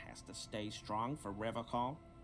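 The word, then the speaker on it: Revachol: He pronounces Revocol with a hard K, unlike other people. Serious question time. This man is no innocent. No one is. You said Rubicol? I like to pronounce it the hard way. The old way. The Vespertine way.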